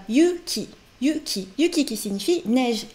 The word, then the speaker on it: Yuki: Et le thème d'aujourd'hui est Yuki et la neige. Allons-y! Yuki, c'est le prénom de notre héroïne ici présente. Donc vous pouvez voir dans la présentation des personnages, on voit que le prénom de Yuki est écrit en kanji.